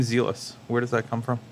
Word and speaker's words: Zēlus: that that's dealer so i know zealous yeah or or zealous well some people are pronounced as a loose um was there ever